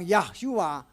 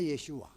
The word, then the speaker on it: Yeshua: yahwe Saini penyelamat Tetapi kalau ada bilang yahshua itu nama itu salah Hai orang Ibrani tidak mengenal yahshua orang Ibrani mengenalnya yeshua yo yah hari sini